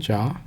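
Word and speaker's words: 자: If you hit this gumsec button, gives you the Chinese character, the Korean version in HanGul, tells you how to pronounce it, it's Ja.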